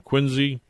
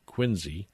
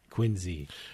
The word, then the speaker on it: Quincy: Even though the trust is from Quinsey, not Quinsey, Quinzy. Quinzy with a Z.